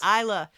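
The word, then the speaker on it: Éile: It's spelled Ellie. But I don't pronounce it wasn't, though. It was Isla, the Lark.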